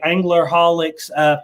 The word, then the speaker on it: ANGLERHOLICS: I think it's actually ANGLERHOLICS Fishing and Outdoors Adventures. Did I say it correctly? That's correct. All right.